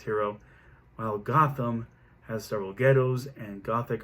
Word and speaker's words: Gotham: And he got it from the English village near Nottingham of that spelling, but they pronounce it Gotham. And it means goat town.